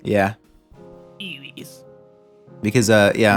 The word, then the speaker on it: Luis: Luis. Yeah. Eewees. Because yeah. Anytime I hear Lewis, I think of how Leon Kennedy intentionally mispronounces Luis's name in Resident Evil 4.